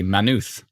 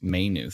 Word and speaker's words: Maynooth: factors kim says exactly manuth you are saying it right it's not pronounced maynooth says leslie so a